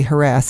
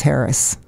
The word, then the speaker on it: harass: Like it's not really harass anyway, it's Harris. Yeah, yeah. That's the preferred pronunciation.